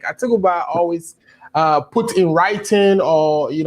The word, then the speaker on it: Atubiga: I'm getting the name wrong, right? It's Atubiga. Yes. Atubiga.